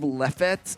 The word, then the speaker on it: Lefsetz: It's Lefsetz.